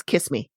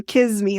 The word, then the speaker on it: Kissimmee: I also noted that Steve pronounces Kissimmee as kiss me I feel like it was more of a kiss me like with a z sound kiss me that could